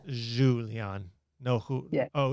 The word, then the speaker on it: Julian: Julian is in Spanish, but I translate it to English with Julian.